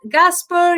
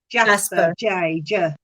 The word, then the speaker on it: jasper: talk about the red gas uh is it gasper jasper how do you say it's uh jasper yeah thank you maria for being there thank